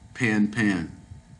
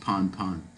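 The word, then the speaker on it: Pan-pan: The radio message urgently concerned with safety of a person overboard would be prefixed by the words B, pan pan, pon pon. It's pronounced pon pon.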